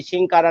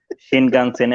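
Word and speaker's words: 新幹線: তারপর হ্যাঁ আপনি হ্যাঁ ওখান থেকে একটি বাসে উঠলেন, তারপরে 1-1.5 ঘন্টা বাসে থেকে আপনি চলে গেলেন সেই শিনকারা নাকি একটা নাম বললেন, সরি আমার শিনকানসেন, প্রোনাউন্সিয়েশন ভুল এখানকার হতো।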